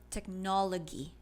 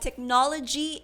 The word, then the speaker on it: technology: She said technology. Not gee, but not g as well. Yeah, something in the middle. I I I cannot identify what sound, but technology is said as technology.